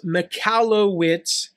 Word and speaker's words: Michalowicz: on him Mike now his last name is pronounced Mallo wits and spell Che always screws that up uh